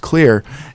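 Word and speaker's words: Xlear: name today it's X le AR and it's pronounced clear and that helps to reduce allergens from sticking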